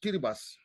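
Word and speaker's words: Kiribati: lot lot of it's called kiras it's called kiribas kabas not t the t is the T is uh pronounced uh yes yeahi heras they are micronesians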